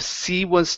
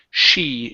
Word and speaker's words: she: next one here is she was instead of C was tired give me an SH here she she was tired she